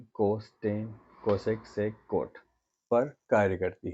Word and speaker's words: cosec: को coat, SEC को सेक और COSEC को कोसेक पढ़ते हैं।